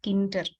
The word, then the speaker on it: Tkinter: There is one common thing called Tkinter. You may have heard about it. It's actually pronounced as Kinter.